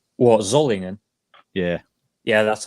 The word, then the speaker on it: Solingen: Can you pronounce that again so that everybody else can pronounce it correctly? What, Zollingen? Yeah. Yeah, that's how you pronounce Solingen. Not solid, not Soligen. Yeah. It's Zollingen, yeah.